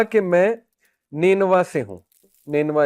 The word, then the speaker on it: نینوا: تو ادس نے کہا کہ میں نینوا سے ہوں۔ نینوا اس کا تلفظ ہے NINEVEH۔ نینوا جو ہے یہ